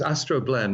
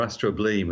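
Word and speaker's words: astrobleme: clue from other words Astro blend or Astro bleem as it looks to us think you pronounce it as you like really depends which school you went to probably and it means literally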